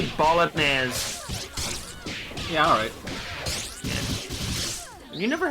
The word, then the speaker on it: bolognese: It's pronounced bolognese.